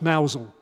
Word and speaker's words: Mousehold: and pronunciation will know mousehold is pronounced mousel um it's a a